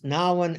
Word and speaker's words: Nouwen: I heard him once say it's Nouwen as in now and then.